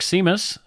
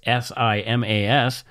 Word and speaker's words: Simas: We do have a patron this week, and that person's name is Mark Simas. And if I'm pronouncing it correct, it's S-I-M-A-S. Could be Simas, but I think it's Simas.